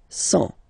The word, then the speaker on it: cent: and the last one, 100. Remember, final T not pronounced.